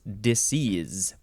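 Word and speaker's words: disseise: words now we have I guess it's pronounced disease yeah disease disease you can spell it d-i-s-s-e-i-s-e or the last s can be replaced with a z so it's disease uh let's see this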